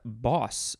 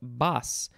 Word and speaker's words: boss: episode next is the word boss or also it could be pronounced bas b-o-s-s that probably depends on where you're from this is the first